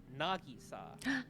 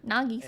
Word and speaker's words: Nagisa: it Nisa but apparently the proper way to pronounce her name is Nagisa Nagisa and like yeah nag but people in English